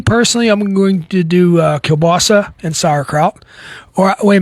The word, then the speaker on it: kielbasa: Me personally, I'm going to do kielbasa and sauerkraut. Or wait a minute, I got to pronounce it the Pennsylvania way, kielbasi and sauerkraut. And I got my kielbasi